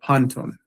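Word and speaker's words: πάντων: But here now you see that the accent has shifted over to the first syllable here, and you have panton.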